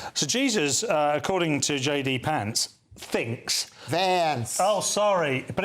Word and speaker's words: Vance: Republican side of things under J.D. Vance, which rhymes with pants.